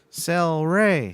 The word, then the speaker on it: Cel-Ray: know how to say it speaking of taste cel-ray celery so yep the other night mm-hmm sorry